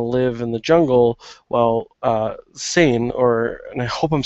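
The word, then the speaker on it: Sein: in the jungle, while Sain, and I hope I'm saying that right, it's S-E-I-N, and the pronunciation is S-A-I-N, where it's like Bane. So I'm saying Sain.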